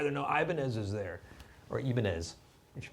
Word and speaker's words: Ibanez: Or Ibanez, if you pronounce it that way. Ibanez.